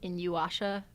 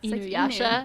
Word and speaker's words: Inuyasha: It was like Inuyasha, but that's not how you say it. Ugh, no. It's Inuyasha. Inu. Inu, like It's a dog.